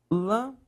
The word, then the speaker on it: lâmpada: Qual é a sílaba mais forte? A professora, lâmpada. Beleza. Última, penúltima, antepenúltima. Se a antepenúltima sílaba é a mais forte, obrigatoriamente deve ser acentuada.